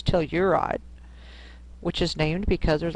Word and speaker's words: Telluride: a town in Colorado called toride more you pronounce Telluride which is named because